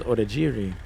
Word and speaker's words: Odiri: and I told him my name is odiri and he looked at me like I was crazy and I said it's phonetic it's spelled the way it sounds and I still needed